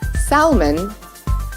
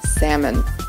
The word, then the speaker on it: salmon: Americans make the mistake of calling this fish Salman the correct pronunciation is salmon espresso I'm sure many of you might